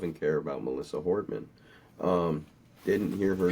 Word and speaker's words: Hortman: But when I hear a left side talking about Melissa Hortman, but they call her Melissa Hoffman, it's like if you can't even pronounce her name correctly, you have no business talking about her to try to honor her name.